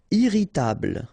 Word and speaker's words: irritable: Irritable. Don't insist on the final e.